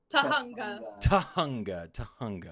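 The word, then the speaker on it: Tujunga: You got to help my pronunciation with this because it's going to be butchered, but is it in Tuhunga? Tahunga.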